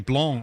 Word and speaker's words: Blanc: And I've been pronouncing it wrong all the time. It's me being picky and using the French pronunciation. You can get away with saying Blanc.